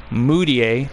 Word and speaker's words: Mudiay: on there, but they also picked up Emmanuel Mudiay. Thank you to Kid, who corrected me a while back about the pronunciation of his name, because I was saying it all wrong.